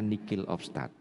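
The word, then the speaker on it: nihil obstat: atau nihil of start tulisannya nihil of start bacanya Nick of start artinya tidak ada istilahnya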